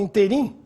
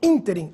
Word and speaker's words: ínterim: Embora muita gente fale interim, o intervalo de tempo é ínterim, é uma palavra proparoxítona, agudo no I.